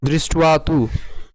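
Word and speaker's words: দৃষ্ট্বা: এবং এর উচ্চারণ হবে হচ্ছে উর মত তাহলে উচ্চারণ কেমন হবে দৃষ্ট দৃষ্ট দৃষ্টতু পান্ডবানিক বিউরং এখানে যে জফলা রয়েছে জফলার উচ্চারণ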